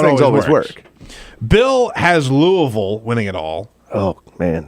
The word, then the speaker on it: Louisville: he say louisville does he say it right louisville that's good yeah i know it's good he